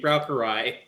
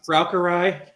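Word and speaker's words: Braucherei: They'd be browarai. They would What's the word? What can you spell that for me? Sorry. Uh, browery. It's German.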